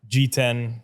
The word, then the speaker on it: Jiten: is Jan um G10 for people that can't pronounce G10 um not G6 not